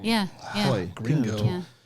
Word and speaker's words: Joy: And you probably didn't notice that it was a soft J, and you guys have been pronouncing it wrong the whole time. Completely wrong the whole time. How do you feel about that? Well, it's not even Yoy, it's Hoy, kind of like Spanish-ish. See, even I got it wrong.